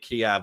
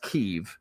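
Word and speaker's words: Kyiv: And what ended up which by the way I I pronounced it at Kiev up until like literally two years ago but in northwest Keev there were like you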